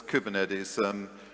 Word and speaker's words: Kubernetes: I don't know how to pronounce these K8s. What about K8s and deploy on multi-cloud providers? So that's Kubernetes.